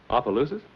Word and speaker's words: Opelousas: Opelousas?